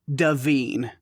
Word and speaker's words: Devine: And the AI thing is it is pronounced Devine with the long E's.